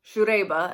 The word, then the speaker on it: Siegerrebe: drink on its own so that's your typical shoe daiba as i've been taught to pronounce it but this one the first time